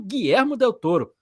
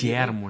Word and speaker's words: Guillermo del Toro: muito barulho aí, que é Frankenstein, dirigido por Guilhermo Del Touro. Pesquisei a pronúncia certa, Jo para falar o nome certo aqui, né?